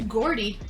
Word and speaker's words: Geordie: Geordie? Geordie. Say it like a J, like a Geordie.